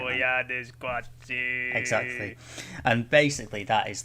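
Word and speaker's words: Koyaanisqatsi: I can never get the pronunciation right. man. Goyani Squatsu.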